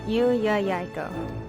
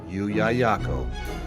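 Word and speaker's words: Llullaillaco: Yuyayako. Yuyayako. Yuyayako. It is spelled L-L-U-L-L-A-I-L-L-A-C-O.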